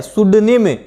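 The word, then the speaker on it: pseudonym: सुडनिम, पी लगा हुआ है तो सुडनिम ही इसका प्रोनाउंसिएशन होगा, ध्यान रखना है।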